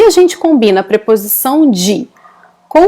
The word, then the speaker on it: de: A gente pronuncia, na verdade, de. Ok? So, we pronounce it like this. De.